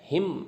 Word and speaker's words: hymn: हिम, ये हिम बोलते हैं इसको, HYMN, एन साइलेंट इसमें।